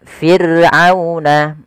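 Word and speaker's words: فِرْعَوْنَ: Kemudian firuna ada ro sukun didahului dengan huruf kasrah maka dia dibaca dengan ro tarqiq. Ro yang tipis tidak boleh ditebalkan tidak boleh firuna. Firuna tidak boleh ya, tapi dia tipis.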